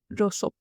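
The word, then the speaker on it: Rousseau: Next बंदा is gene जेकस रोसो। हां, यह रोज़ है। ओ जैसा लग सकता है बट आई चेक ह pronunciation on Google इट्स रोसो।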